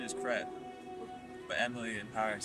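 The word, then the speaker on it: crêpe: Well, the pronunciation is crepe, but Emily in Paris says crap, so.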